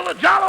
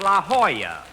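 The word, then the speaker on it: La Jolla: over here at the Lalo Auto Court Rochester I found out that's pronounced La Hoya it turned out to be a Spanish word do don't I should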